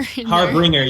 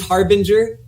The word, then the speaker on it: harbinger: not in our heartbringer you said heartbringer yeah no i say it i say it wrong all the time and i don't know why i know it makes sense it's true right it's it's harbinger yeah they are harbingers